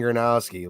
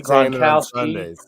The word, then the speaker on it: Gronowski: It's Mark fucking Gronowski. Learn his name. Oh, they got Gronowski, Gronkowski.